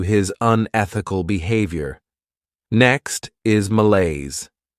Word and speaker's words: malaise: Next is malaise. This word has two syllables and the stress is on that second syllable.